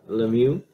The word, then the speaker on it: Lemieux: Lemieux. Yeah, like Pepe and Lemieux pretty much.